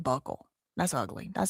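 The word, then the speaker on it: buccal: Is it buckle? I thought it was bugle. B U C A L. Be buckle. Buckle. It is buckle.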